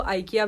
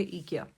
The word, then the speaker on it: IKEA: ईकिया आप लोगों ने नाम तो सुना होगा, बहुत सारे लोग उसको आइकिया भी बोलते हैं, लेकिन उसका एक्चुअल में उसका रियल प्रोनाउंसिएशन होता है, जो सही प्रोनाउंसिएशन होता है वो है ईकिया।